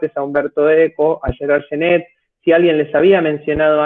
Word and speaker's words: Genette: A nuestro oído hispánico nos suenan igual, pero en principio para un francés deberíamos pronunciar el primer nombre como Genet y el segundo como Genette.